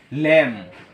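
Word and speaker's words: lamb: কারণ হচ্ছে এম এর পর কি? বি থাকলে সে বি উচ্চারিত হয় না।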